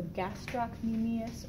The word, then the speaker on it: gastrocnemius: the gastrocnemius you could you don't have to pronounce the C it's a gastrocnemius or gastrocnemius I always say with the C that's how I learned it gastrocnemius try that one underneath